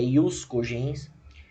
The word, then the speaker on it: ius cogens: A pronúncia é ius cogens, é o grupo, é